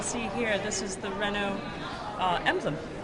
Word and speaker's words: Renault: So you see here, this is the Renault emblem. What some of us would call Renault. Yes. Sorry, in France they say Renault. They pronounce it correctly.